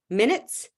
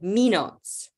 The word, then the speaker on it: minutes: the wrong message um so the word minutes pronounced like minots okay or rates sounding like